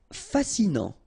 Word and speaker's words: fascinant: Fascinant. Final T not pronounced, so you get this A-N. En, non, fascinant.